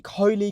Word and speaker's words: Coley: And then obviously Coley's my dad's people always ask me how to say it. Collie Coley is Coley.